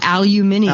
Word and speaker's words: aluminium: it a windscreen and uh they didn't call aluminum they call it aluminium aluminium Dum they even spell it that way too yeah they the British